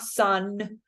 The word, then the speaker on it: son: So not son or son, but son.